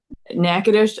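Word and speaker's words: Natchitoches: that for me okay Rebecca what is it nadish what is it nackadish and I'm originally from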